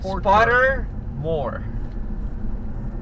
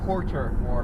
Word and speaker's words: Pottermore: It sounds like you're saying Pottermore. Pottermore. Yes. It sounded like you were saying Porter more, like Portor. I'm like, that doesn't sound right.